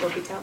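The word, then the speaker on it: L'Hôpital: Spell it La Hospital, that's how the AP is going to, but pronounce it L'Hopital, please.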